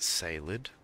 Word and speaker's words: Caelid: It's actually pronounced Salid.